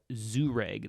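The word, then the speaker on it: Jhereg: in a volume called the book of uh zoo reg that's how that's pronounced there for you for those of you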